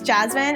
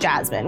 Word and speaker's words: Jasmine: I had a teacher in school who specifically said, in America, your name is pronounced Jasmine. We don't say Yasmin, and never really questioned it.